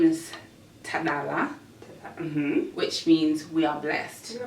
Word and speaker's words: Tadala: But you know, here I'll probably my name is Tadala because the da is harder for people to say. To pronounce. Pronounce it one more time. Tadala.